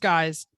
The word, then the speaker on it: gyx: internet custom excuse me gyx pronounced guys underscore customs awesome um coming